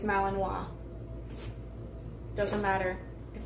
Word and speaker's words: Malinois: by the way guys it is not pronounced Milan boys it is Malinois doesn't matter if it's